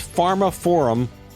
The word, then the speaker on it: pharmaphorum: editor-in-chief at Pharma Forum that's Pharma Forum they spell it weird p-h-a-r-m-a-p-h-o-r-u-m Pharma forum another guy a really